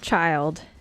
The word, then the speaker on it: Childe: like this oh no it's pronounced child it's definitely pronounced child even child said it